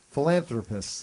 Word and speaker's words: philanthropists: Philanthropists. Thank you. That middle syllable is missing.